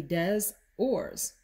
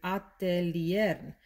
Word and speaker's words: Atelier des Ors: in spanish is very different in spanish you pronounce all of the letters for the most part so it would be des ors and it would be atelier so you sort of have to retrain your